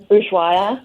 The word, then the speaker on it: Ushuaia: Ushuaia.